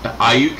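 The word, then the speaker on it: Aiyuk: I thought I was driving home from church listening to the 49ers game, and I was hearing all these passes to Ayuk.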